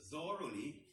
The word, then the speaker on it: thoroughly: Per means thoroughly and strongly. Strongly or thoroughly. Cosa vuol dire questo thoroughly? Non lo sapete perché, attenzione, dobbiamo fare gli errori. Thoroughly, si legge così.